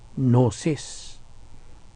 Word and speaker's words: gnosis: Kini, gikan po ni sa Grigong pulong nga gnosis. Wala. Gnosis. Kahibalo. Gnosis. G-N-O-S-I-S. Silent G, ha? Gnosis ka na pag-pronounce na to.